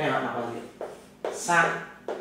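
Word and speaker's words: 三: Sang là 3, có người gọi là tang, dài ngắn và cái nét dưới cùng là dài nhất.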